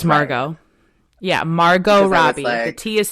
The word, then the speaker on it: Margot: so how come you if you say your name's Margo why is it like you know spelled like Margaret she's like because my mom wanted to torture me so so she's like no it's strictly just Margot and she has like